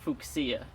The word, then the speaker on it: fuchsia: um so get this fuchsia the latin pronunciation is fuchsia and it turns out